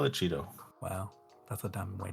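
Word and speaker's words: Chaeto: it I call the Cheeto wow that's a dumb way to say it I say Kido that's Latin that's how Latin works but it's okay you'll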